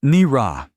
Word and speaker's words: Naira: "It's pronounced Nira," she corrected, her voice flat. "And nothing in your language rhymes with it." "Nira.